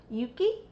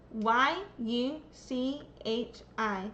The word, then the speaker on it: Yuchi: Is is that am I saying that right? Is it Yuchi? I am so sorry. I should learn how to pronounce that one. That's up. Y U C H I.